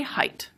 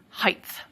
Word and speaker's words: height: And I say height, but many speakers now say height. Historically, we actually had the pronunciation height through Middle English, through the time of Chaucer or so, but then it was lost. It's now making a comeback.